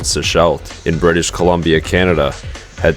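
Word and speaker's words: Sechelt: Seashelt, I think that's actually how you pronounce it, is one of the last bigger towns before the wilderness really begins.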